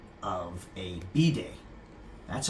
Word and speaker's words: bidet: So I'm going to start by respecting the French and calling them by the proper name, which is bidet. So don't pronounce it bidet or any other way because the French are going to get pissed off.